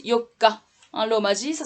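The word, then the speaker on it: 四日: là le conso ne répète alors ça se prononce Yoka alors vas-y ça s'écrit comme ça c'est le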